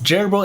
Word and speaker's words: Jerbo: Okay, so apparently it was Jerbo and Julius' first Ludum Dare pronunciation, like the animal gerbil, but with a bow, Jerbo.